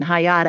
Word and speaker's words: Hayat: messing up the pronunciation hayat i think is that right yes i'm proud of myself